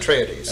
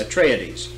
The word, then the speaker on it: Atreides: You have the forces of the House of Atreides, do you pronounce it? Atreides. Atreides.